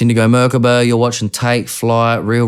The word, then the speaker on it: Merkaba: Merkaba. That's how you say Indigo it. Merkaba for everyone at home. Indigo Merkaba. Not Makaba. What other pronunciations Indigo do you get?